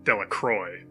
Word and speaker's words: Delacroix: Bobby and Harry Jones and Dickie Delacroix, the villagers pronounce his name Delacroix, eventually made a great